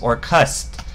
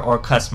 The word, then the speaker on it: Orcust: to do links and that's or cust so I'm assuming it's a wordplay on Orchestra that's actually spelt with an H e but it's more cust so